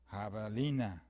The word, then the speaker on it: javelina: I had gone from a three syllable mascot coyote to a four syllable mascot javelina I don't know I